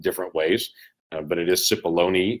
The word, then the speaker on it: Cipollone: Pat Cipollone is his name, and I've heard his name pronounced untold different ways, but it is Cipollone. You actually pronounce the E at the end, but it's Cipollone, Cipollone, all kinds of different ways have been said.